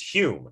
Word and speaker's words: Home: one medium daniel dunglass hume it's a weird name this looks like douglas but it's not it's douglas and this is pronounced hume not home he was a scottish